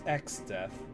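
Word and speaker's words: Exdeath: His name is Xdeath and he plays the role of chief antagonist in another ancient tale.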